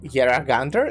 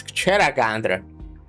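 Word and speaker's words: Kjeragandr: Yer Yeragander. Is that how you pronounced it? It's Cheragandra.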